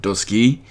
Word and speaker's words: Duscae: episode The scared demo which also may be pronounced episode doski because AE is generally pronounced as a y but I'm just going to call it dosuke because I'm lazy like that so really quick a couple